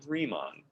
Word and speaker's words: Riemann: are called riemann sums he was a german dude so you say his name riemann okay all right so